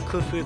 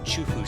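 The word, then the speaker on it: Qufu: this trade route with Kufu closes down. Oh, Chufu, sorry, I should say it properly.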